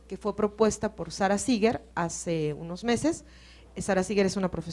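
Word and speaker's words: Seager: Entonces planteo una nueva ecuación que sería bueno que por ahí si buscan Seeger, Seeger se escribe S-E-A-G-E-R, Sara Seeger y la ecuación de Drake, seguramente van a encontrar información sobre esta nueva ecuación que ella propone.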